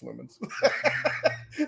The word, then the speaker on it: Lumens: lumens oh yeah I I always mispronounced it until I heard the actual developers call it lumens I was like is this like luminesce and they're like no it's lumens all right all right